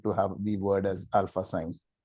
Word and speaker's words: Alphasine: Uh this is just alpha sign. Alpha as in you know being a you know a primary motivator or a primary driver and sine is the sine wave because in electronics uh most of